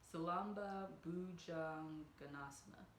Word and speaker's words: Salamba Bhujangasana: Salamba, Sarva, Gasana. I really butchered that. Salamba, Bhujangasana.